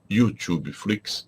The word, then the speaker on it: YouTube Flix: E se você tem essa dúvida, você deve entrar no meu canal chamado YouTube Flix, escreve-se com U inicial, pronuncia-se como em inglês, YouTube Flix.